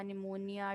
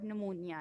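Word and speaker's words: pneumonia: कि common cold और नमूनिया ए P silent है निमोनिया वर्ड होता है आप लोगों ने रिसेट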